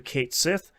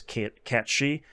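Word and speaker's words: Cait Sith: Just ran into Kate Sith. I know I'm pronouncing it incorrectly. That's just how the game pronounces it. I know it's Cat She.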